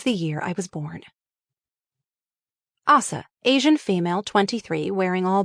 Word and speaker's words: Asa: Assa is at first confused, but relieved there is someone there to get her.